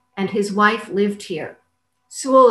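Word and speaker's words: Soule: his wife lived here sewell is spelled s-o-u-l-e and windsor sewell by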